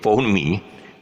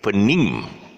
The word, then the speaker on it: phoneme: at that you see you see the word phonemi but actually the the real pronunciation is phenim for nima a unit of